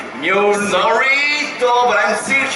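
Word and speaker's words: Mjölnir: How do you say it? Mjolnir? Mjolnir. Mir. No, Mjolnir. Mjolnir. Look, repeat after me. Mjolnir.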